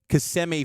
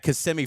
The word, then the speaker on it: Kissimmee: on the East Coast here in Kissimmee, Florida. I apologize to the locals saying it incorrectly yesterday, so my bad on that. Kissimmee, Florida, Cougs and Flyers in what should be a good game.